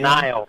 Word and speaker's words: Nile: Rhymes with Mile River. Yes. Just put an N instead of an The N. Nile. The Yes! Nile.